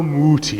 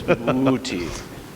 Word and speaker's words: Muti: but how do you say it again ricardo muti see there it is see that's that's when you know it's going to be good if it's mooty so joe what did we select for handel's